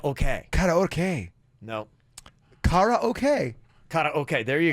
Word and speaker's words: karaoke: in karate and then the oke part is actually a shorter version of the Japanese word for Orchestra which is okay sue